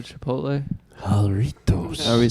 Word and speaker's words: Jarritos: are looking at how to pronounce with the typical Mexican pronunciation, jarritos.